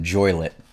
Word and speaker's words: Joliet: I'll say it Joliet everyone I know calls it joylet enjoy lit I like Joliet because that's how all the old people always could say it so I think that is the actual proper pronounce yeah I think you